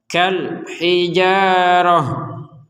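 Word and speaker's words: كالحجارة: nafas berhenti di sini maka ta yang bulat seperti ini akan terbaca sebagai huruf ha nah sekali lagi Ta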